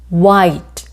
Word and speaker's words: white: 나오면 아가 아이 소리가 나죠 그리고가 차 그래서 white 자을 받침으로 넣어도 돼요 white white 흰색 하얀색